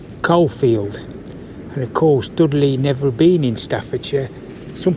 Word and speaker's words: Dudley: I can assure you right now that it has never been pronounced Dougl.